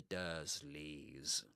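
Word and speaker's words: Dursleys: Harry lived with his dreadful stepparents, the Dersleys. So dreadful, dreadful stepparents. Steparents. Yep. Steparents. The derslley's. That's with this h sound you'll hear in words like church or even fur.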